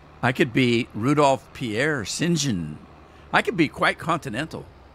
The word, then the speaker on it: St John: from Europe or someplace because in Europe uh St John is pronounced singen so singen and it's and it's